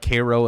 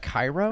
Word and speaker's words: Cairo: of funny you say cairo yeah it's not cairo it's properly pronounced cairo why in the midwest do we steal other